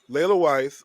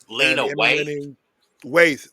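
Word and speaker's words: Lena Waithe: So Leila Weiss was known is is known for Master of None. Lena Waith.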